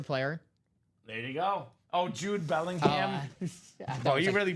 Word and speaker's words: Jude: Oh, Jude Bellingham. Oh, you really butchered that, Dom. I don't know. Not a soccer guy. So, spelled like Kobe. So, I was like Joby.